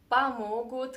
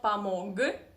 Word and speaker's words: помог: Yeah, here is another very interesting Russian pronunciation trick that if there is g, this consonant g, in the end of any Russian word, you need to pronounce it as k, not помог, but помог, помог.